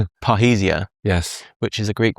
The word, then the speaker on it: parrhesia: Almost certainly going to pronounce it wrong. Parrhesia.